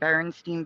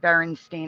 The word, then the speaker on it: Berenstain: like physically upset when I saw JCPenney and Berenstein Bears, because it was always Berenstein for me. I'd never heard Berenstain in my life.